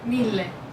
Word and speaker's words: mille: Mil is, how do you say 1,000 in Italian? Million. Mille. Mille. And you would write it M-I-L-L-E? Yes. That's it. Same in French, mille.